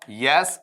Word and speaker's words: yes: करना, YES और YET, इसका उच्चारण बताओ मैं क्या लूंगा, आपका यस, और इसका उच्चारण मैं क्या लूंगा, येट। इस तरीके से बोला जाएगा यस, और इस तरीके से बोला जाएगा इसे आपका येट।